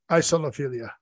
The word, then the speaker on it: isolophilia: Oh, it is isolo. Isolophilia.